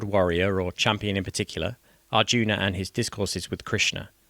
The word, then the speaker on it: Arjuna: But who is Arjuna and why should we care? Arjun, as I shall actually be pronouncing the name because you hear different variations, is referred to by many as the protagonist of the bag of Agita.